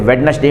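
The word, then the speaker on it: Wednesday: ये साइलेंट है जैसे वेडनेसडे में वेडनेसडे हम लोग कहते हैं तो दी साइलेंट होता है एडजेक्टिव में के साइलेंट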